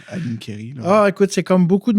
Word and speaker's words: Nincheri: En fait, on prononce Nincheri parce qu'en italien, le CH, che, se prononce K.